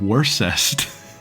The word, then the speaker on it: Worcest: Oh, Worcest. Pronounced Worst.